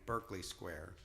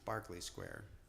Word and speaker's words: Berkeley Square: this song sung i uh kept calling it berkeley square and some nice guy came up to me and uh he said you know that's pronounced barkley square but it's er because what okay so i